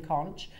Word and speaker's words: conch: all out of Queen conch uh conch sorry some people call it conch some people call it